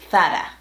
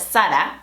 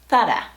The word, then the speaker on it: Zara: this correctly either because we pronounce the Z just like an S. We call it Zara. But the original is not Zara, definitely not Zara, but Zara.